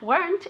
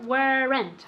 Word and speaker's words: weren't: on a diet okay remember that weren't is one syllable never ever ever wear rent okay weren't once weren't